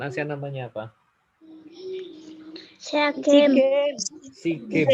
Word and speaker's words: SEA Games: SEA Games bacanya. Seagames. Asian SEA Games. Games. Bukan Asian Games, tapi SEA Games SEA tanpa A.